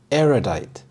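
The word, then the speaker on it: erudite: was very astute aidite aidite the stress is on the first syllable aidite this means showing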